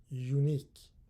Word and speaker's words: unique: in here I mean I pronounce this word unique so it starts with Y that's why I use a a unique experience experience yesterday I